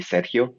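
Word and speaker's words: Sergio: myself my name is serge uh is my english nickname but you can call me sejio if you speak spanish that's uh how my name is pronounced i'm a data scientist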